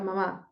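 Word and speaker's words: 马: tiene distinto tono bien Por ejemplo no sé digo ma Eso significa mamá ahora digo ma y significa caballo bien tenemos la m la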